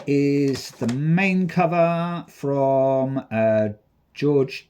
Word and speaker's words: Jorge: That there is the main cover from George Jimenez, or Jorge Jimenez, as people like to pronounce it.